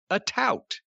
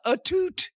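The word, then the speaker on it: Atout: heard it pronounced so i thought her name was alicia a tout a-t-o-u-t that's what i thought too she introduced herself as alicia etute and i couldn't stop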